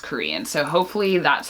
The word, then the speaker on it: Qrion: it's spelled Qrion, and it said somewhere on a blog that it's pronounced Korean.